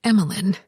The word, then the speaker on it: Emilyn: Actually, it's Emilyn. Zoe pronounced the last syllable Lynn as if there were no e at the end.